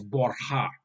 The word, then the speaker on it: Borja: So in Italian, it's Borgia, but in Spanish, it's Borja with a silent J.